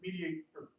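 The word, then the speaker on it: MediatR: Is the tool actually spelled without the O? Yeah, it's like Flickr. It's Okay, it's Web 2.0. So yeah, it's Mediator.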